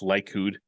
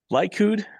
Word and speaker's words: Likud: A note on, I believe that's pronounced Likud, Netanyahu's party and its connection to revisionist Zionism. Likud, meaning the Consolidation Party, is an extreme right-wing party that has its roots in revisionist Zionism.